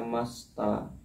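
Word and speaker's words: ました: Desita dibaca desta masita dibaca masta.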